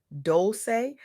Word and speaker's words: Dolce: This is the Soft Girl Era podcast, hosted by me, Dolce, pronounced Dolce, like sweet softness whispered in French.